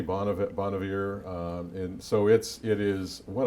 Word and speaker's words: Bon Iver: Bon Iver, as I pronounce that correctly? That sounds good. I say Bon Iver.